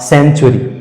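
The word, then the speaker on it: century: उसी तरह से सी के बाद ई आया, सी का उच्चारण सा के रूप में होगा और इसका सही उच्चारण हो जाएगा सेंचुरी, सेंचुरी।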